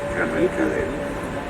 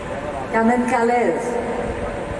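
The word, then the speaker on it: Kamen Kalev: It's difficult to sometimes pronounce it properly. It's Carmen Calais. Carmen Calais.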